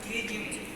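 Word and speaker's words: pterygium: इससे ये होता है, ये abnormal fold of the conjunctiva known as ट्रीजियम। ये ट्री साइलेंट है, बहुत से लोग उसको ऊपर ट्रीजियम पढ़ते हैं, पर ट्रीजियम सोने बेचने वाले ट्रीजियम।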